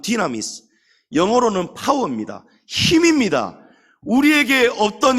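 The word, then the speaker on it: δύναμις: 말을 찬양도 있고 많은데이 두나미스 바로 권능입니다 헬라어로 본래 발음은 디나미스 영어로는 파워입니다 힘입니다 우리에게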